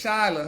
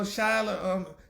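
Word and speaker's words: Chyler: Well, you know Jesse, honey, and you know Shyler, well, how do you pronounce it? Like Chrysler without the ER or whatever, Shyler Lee.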